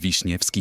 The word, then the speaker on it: Wiśniewski: 3rd most popular in the whole country Wiśniewski pronounce them slowly Wiśniewski this word smells like summer comes from cherries